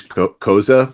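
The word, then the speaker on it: Xhosa: I mean she's she's coza which you you pronounce like you know mozza that's that's the way you say it.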